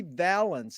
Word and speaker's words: Vallance: Okay, it's an honor and a pleasure to be here with Jeffrey Vallance. Is that the correct way to pronounce it?